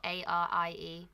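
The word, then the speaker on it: Arie: So it's spelled A-R-I-E, Ari.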